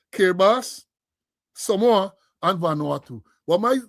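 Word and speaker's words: Kiribati: year the countries got to be they call it's spelled kerati but it is pronounced uh kirbas k i r i b a ti pronounced kerbas and um Samoa and vanuatu said then well it's Kbas Samoa and Vanoatu Well, my my um my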